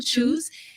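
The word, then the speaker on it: Chus: street uh he owns blue shoes and it's spelled c-h-u-s you know shoes and he is he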